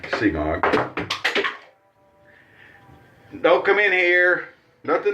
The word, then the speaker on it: Semogue: The little old semogue brush there, also known as smog, I think is actually the regular way to pronounce it. And I sometimes say semogue.